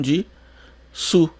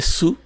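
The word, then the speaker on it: です: que na verdade né você imaginaria que a pronúncia de su mas a pronúncia é des des com ligeira variação Dependendo de quem fala às vezes tem um des tem um som de um pouquinho mais forte às vezes é só des né não se escuta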